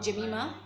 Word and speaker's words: Jemima: I remember Jemima, or Jemima, as others pronounce it, is a name which is this Jemima is one of the daughters of Job.